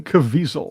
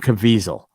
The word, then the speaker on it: Caviezel: How do you say his last name, Chris? It's that would be Jim Caviezel. Jim Caviezel.